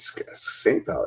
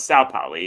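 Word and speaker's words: St. Pauli: Is it St. Pal, right? No, it's Sa Pali. it in German it's sa poly but it's okay sty but s is saint but yes yeah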